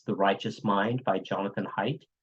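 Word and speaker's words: Haidt: Righteous Mind by Jonathan height or hate his name might be pronounced hate and uh that was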